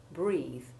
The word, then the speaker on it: breathe: While words like beneath, heath, and wreath do indeed have the long E1 sound, others, like breath and death, have short E1.